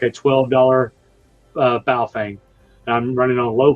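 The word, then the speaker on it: Baofeng: literally like a $12 bow fang and I'm running on low power one watt and I can connect to the world with it. I think you mispronounced that. I think it's pronounced buffang.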